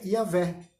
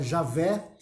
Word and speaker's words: Javé: Então a abreviação dessa frase em hebraico, eu sou aquele que sou, se pronuncia Yavé. Por isso que tem muita gente que fala Yavé, fala Javé, é por causa dessa frase, tá?